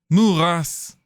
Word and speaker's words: Moeras: Okay, well that's gonna be it for Moeras. Oh, morass! Is this Dutch for morass? Cause it's a... Well, it's a swamp, right? Let's see. English to Dutch. Morass. Moeras. Moeras.